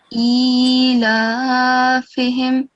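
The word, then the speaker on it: إيلافهم: So here Ilafe, it has a vertical fatha. Yeah. If you can see under the alif, it's very hard to see, but you know the rule for vertical fatha, right? Yeah, you prolong it 2 seconds. Yeah. So whether it's above a letter or below a letter, you have to prolong it for 2 seconds, but you only did 1 second.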